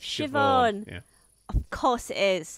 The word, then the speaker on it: Siobhan: See, it was even it even came up when I started to when I typed in how to pronounce. It's Siobhan.